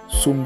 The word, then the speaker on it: psaume: assuré chant les services pume prononcé avec endez P dans pume il pas prononcé P à mieux ven mot